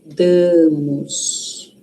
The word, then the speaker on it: damos: Cuidado com esse a aqui, ó. Isso aqui não é a, é ã, né? A é aqui, ó. Da aqui não é dá, aqui é damos.